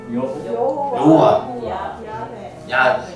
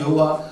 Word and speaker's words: 야훼: 여호와. 여호와나 야훼는 같은 말이에요. 여호와를 히브리식 발음으로 하면 야훼라고 불러요.